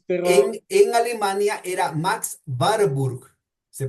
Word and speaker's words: Warburg: Eh, ya yo no me acuerdo ya los nombres, pero en Alemania era Max Barburg, se pronuncia Barburg, que es la pronunciación original.